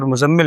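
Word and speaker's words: مُزَّمِّل: مدثر۔ یہ مدثر اور مزمل نہیں ہے لفظ، کیونکہ آپ دیکھیں زا کے اوپر شد ہے، یہ مزمل نہیں ہے بلکہ مزمل، زا کو سختی سے ادا کریں گے، مزمل مدثر۔ تو نام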